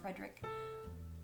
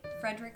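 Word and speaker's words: Fredrik: It's called A Man Called Ove by Frederick. I said it right. Frederick Bachman.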